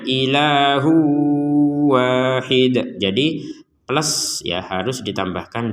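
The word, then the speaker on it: إِلَٰهٌ وَاحِدٌ: Jadi tanwinnya dimasukkan ke wawu sehingga nanti keterbacanya ilahu wahid.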